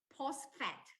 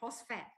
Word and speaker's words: phosphate: lifeline this is called tri calcium post fat okay the the pronunciation is called phosphate okay yesterday i checked